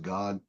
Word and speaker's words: Gad: You think it's Gad, but it's pronounced God.